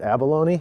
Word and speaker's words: Abalone: There's a game called, I'd pronounce it abalone. It's spelled like the seafood, Abalone.